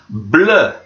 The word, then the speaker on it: bleu: This one has exactly the same letters, but they're just in a slightly different order. So we will pronounce that bleu, bleu.